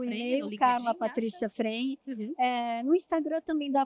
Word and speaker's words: Fregni: Patrícia Frene. Uhum. No Instagram também dá para procurar como Carla Fregni, né? Se escreve Fregni, se fala Frene.